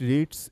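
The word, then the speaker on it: read: এখানে একটা গুরুত্বপূর্ণ বিষয় যে রিডসটা যখন আমরা এটাকে প্রেজেন্ট পাস্টে বলব তখন এটার উচ্চারণটা হবে কিন্তু রেড।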